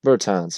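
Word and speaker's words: Bertāns: down below wall and um berlins or burtons burtons that's how you pronounce it but they still have they have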